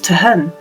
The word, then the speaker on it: Tolquhon: it looks like a stunning place it does token Castle was a fashionable and Noble residents for more than 300 years it was a spacious and sophisticated Country House owned by William Forbes pronounced locally as tahun the castle is first recorded in a charter